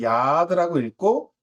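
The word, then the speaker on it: יד: 그래서 이거를 야드라고 읽고 뜻은 손이라고 합니다.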